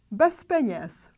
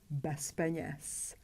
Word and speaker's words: bez peněz: Bez peněz, without money. We have a group of two consonants. P is voiceless, therefore Z has to be pronounced as its voiceless pair S. We pronounce bez peněz, bez peněz.